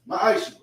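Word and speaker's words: מעשר: It means 10th in Hebrew, and it's pronounced ma'aishu.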